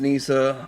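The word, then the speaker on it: Kneesaa: their kesa figure and the kesa Nissa it's pronounced Nissa I say kesa and it's a little bit brighter sort of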